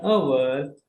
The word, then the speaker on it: hour: ಸೊ ಇನ್ the first word H is silent. So next letter is O. O is oval. That is why we used an hour.